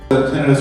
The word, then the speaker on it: tinnitus: Tinnitus or tinnitus is described or pronounced, that's the generation of sound in your ear.